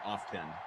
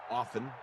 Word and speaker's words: often: we talk about pronunciation I do fluctuate between often and often I do between I'm sorry often and often often whether or not whether or not you pronounce the T in often I've never really thought